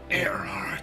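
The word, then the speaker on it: Erhardt: And he actually knows, how do you say his name? Earhart. That's how Ulbrich says it.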